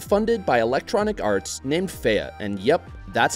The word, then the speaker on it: Fe: Up next is a gorgeous game by developer Zoink Games and funded by Electronic Arts named Faya, and yep, that's how you pronounce it.